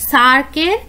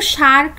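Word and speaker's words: SAARC: তো সেখানে কি বলছে, নিচের কোনটা সার্কের মেম্বার নয়। ঠিক আছে, এটা কিন্তু শার্ক নয়, অনেকে শার্ক বলে উচ্চারণ করে, এটা কিন্তু সার্ক।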